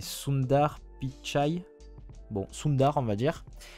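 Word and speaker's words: Sundar Pichai: de Google son prénom j'ai toujours peur de mal le prononcer c'est soundar pitchi bon Sundar on va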